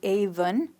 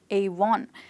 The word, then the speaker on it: Avon: they pronounce it as Avon and not Avon. And the best way to remember it is through the number 1.